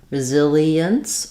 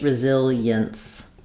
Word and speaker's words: resilience: And then when we're talking about resilience, again, we can have e-ence, resilience, or just resilience. Americans will tend to make these more like 3 syllables rather than 4.